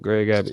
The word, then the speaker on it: Greg Abbott: They That's need to, one of the few things that you actually pronounced correctly, Greg Abbott.